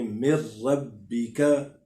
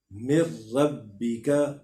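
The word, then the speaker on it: من ربك: گناہ نہیں کرنا، لیکن میم کو سیدھا ہم نے را کے ساتھ مدغم کر دینا ہے، اس میں ضم کر دینا ہے. نون کو بیچ میں نہ ہم ہجے کرتے ہوئے پڑھیں گے نہ روانگی کے ساتھ پڑھیں گے. اس کو ہم پڑھیں گے جی مر ربک مر ربک.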